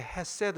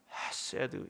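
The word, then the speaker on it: חסד: 여기 해는 너무 명랑하게 헤세드 이렇게 하시면 안 되고, 이 해는 약간 가래를 긁어내듯이 탁하게 발음하셔야 됩니다. 헤세드 이렇게 하셔야 돼요.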